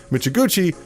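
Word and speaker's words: Mizuguchi: Michiguchi, there you go, that's how you say his name, felt confident in the genre's blend would attract a wider audience.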